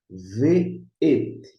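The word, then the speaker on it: וְאֵת: Agora, quando ele aparece com uma conjunção, deixa eu ver como com o vav, e você vê assim, na pronúncia ve'et, aí você traduz ve'et como conjunção e.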